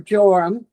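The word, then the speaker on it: Joram: So, we are now in the time of Jehoram or Jorum. Some Bibles uh spell it J O R A M.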